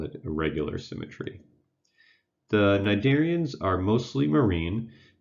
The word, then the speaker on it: cnidarian: as the CN n typically the first letter is silent so it's pronounced cnidarian so just just cut